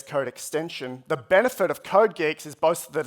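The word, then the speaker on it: CodeGeeX: tsinghua University Professor jitung there assures me that it's pronounced code Geeks not code GX I think I would have put picked code GX this model is slightly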